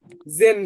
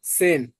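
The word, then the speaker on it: zehn: জেডটা অ্যাস বলবেন, অ্যাস। তাহলে ছয়। জোয়াল্প না, সোয়াল্প। জেন না, সেন। জেডটা অ্যাসের মতো উচ্চারণ করবেন।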